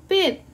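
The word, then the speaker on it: 빗: lanjut sisir sisir adalah Pit Pit ingat ya walaupun ini ini S tapi kalau dia di akhir itu kita bacanya t Pit itu pembahasan tentang Bim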